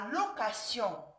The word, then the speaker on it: location: La lettre T aussi peut se prononcer S, comme la location, la punition, l'acrobatie, un péripétie. Ici, c'est le cas dans beaucoup de noms terminés par sion. Sion, il est devant une voyelle I. Aussi, le T ici, il est devant une voyelle. Il doit être prononcer S.